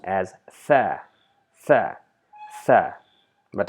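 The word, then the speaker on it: ثاء: So it is pronounced as tha, tha, tha.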